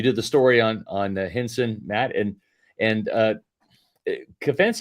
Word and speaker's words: Hinson: what about the in its pronounced cense Hinson higher cense Hinson is